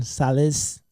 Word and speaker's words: Sales: Hey, we call him Sales, so this is just a funny joke. So everybody calls him Sales because it's spelled S-A-L-E-S. But as you heard, that's not how you pronounce it.